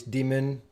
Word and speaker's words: daemon: web redirect here because demons yes i mean they're pronounced exactly the same so unless i was saying i'm going to run this daemon on a scheduled task